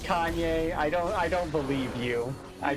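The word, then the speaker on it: Kainé: Yeah, it'd be pronounced Kane. Kaine. Yeah. Alright, Metroid, Yeah. kill him. She's hot. Throw it in, not me! Oh, let's try something else. Is it actually pronounced Kanye?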